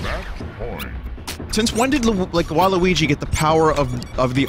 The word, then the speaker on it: Waluigi: Now we know it's pronounced Waluigi. That's confirmed.